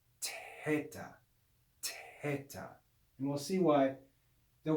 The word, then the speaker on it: theta: you hear it's a it's like the sound of a t with aspiration with breath that's the real classical sound of the letter theta which would be pronounced teta and we'll see why